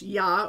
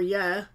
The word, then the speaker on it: ja: I also knew now the Germans say J like a yes sound like yeah why are J a is it's it's spelled in Germans means yes and it's yacht or yeah depending on who you ask but the point is it's a yes sound not the jest sound in German so they say you